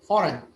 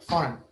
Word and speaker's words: foreign: تمام بس الجي silent يا راشد تنطقاش الجي foreign. تخيلها الجي مش موجودة foreign.